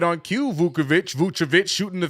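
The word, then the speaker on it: Vučević: It is pronounced Vucevic like normal, right? It's not Vukovic.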